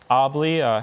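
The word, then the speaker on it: obley: have all the information certainly obli has no other pronunciation I could see it's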